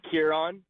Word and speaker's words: Kieran: Yeah, it's Kieran. Spelled like Kieran. Okay. Close enough. I get Karen a lot.